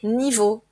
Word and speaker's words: niveaux: X donc des niveau comme toujours le pluriel ne se prononce pas donc des niveaux donc on parle par